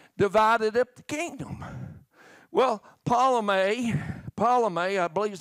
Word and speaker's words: Ptolemy: He covered a time that Antioch and Ptolemy, how you pronounce that? Ptolemy.